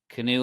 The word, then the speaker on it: Canoe: Canoe like the boat.